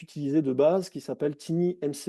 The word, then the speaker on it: TinyMCE: Vous avez un éditeur qui maintenant est utilisé de base qui s'appelle TinyMCE. Alors je le prononce à la française, hein, mais c'est un outil en fait qui est l'éditeur en fait de texte.